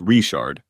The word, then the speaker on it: Richard: In Cajun country, Richard is pronounced Richard.